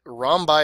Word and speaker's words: rhombi: you'll remember possibly that rom by is the plural of the word rhombus just just how they how they pronounce the the plural of that word so if you have more